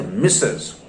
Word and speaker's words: missus: no in that sentence it is m-i-s-s-u-s pronounced as mrs it simply means my